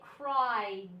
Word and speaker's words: cried: They cried. D, d, d, d. This ed makes the D sound. The E is silent. You don't even hear it.